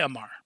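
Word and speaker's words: Aumar: How do you pronounce that last name? I'm going to say Amar. Omar? Amar? Amar? Yeah, just say Amar.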